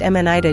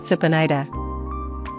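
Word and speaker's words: 습니다: The ending in is pronounced m n i da due to consonant assimilation, not s u p n i da.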